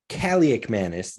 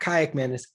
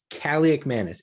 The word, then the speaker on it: Kaliakmanis: It's Ethan Kaliakmanis, not Kayakmanis, Kaliakmanis.